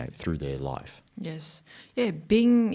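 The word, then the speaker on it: 病: Yeah, Bing is how it's said in Chinese, original Chinese text.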